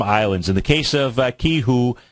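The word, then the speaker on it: Qihoo: in the case of Ki who that's how you pronounce it q i h u is a ticker symbol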